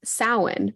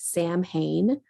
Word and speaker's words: Samhain: He explains Samhain, but he pronounces it. He writes it on this chalkboard and he pronounces it Sam Hain.